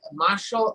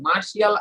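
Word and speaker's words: martial: তারপর আমরা বলি কি দেখেন, আমরা কিন্তু এই যে মার্শাল আর্ট, এটা কিন্তু মোটামুটি কাছাকাছি, মার্শিয়াল আর্ট কিন্তু আমরা বলি না, মার্শাল আর্ট, রাইট।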